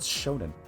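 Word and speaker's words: shōnen: That's pronounced shonen.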